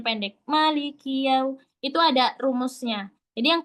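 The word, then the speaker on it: مَالِكِ: Malikiu itu ada rumusnya. Jadi yang kita tahu aja dari bacaan. Nah, maa di sini baca dua harakat. Ingat satu ayunan. Maliki. Jangan malik ki.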